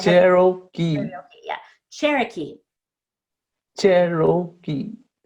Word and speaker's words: Cherokee: Yeah, except you had too much O. So the O is not Okay. stretched out, it is unstressed. Okay. Cherokee. Okay. Cherokee. It's not even an O at all, it's just Okay. Cherokee. Cherokee. Oh, it's not like karaoke.